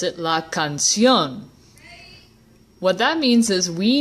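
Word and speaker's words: canción: I just pronounce it la cancion what that means is we need to make this word into an ague that word in other words we need to put the emphasis on the last syllable and the way we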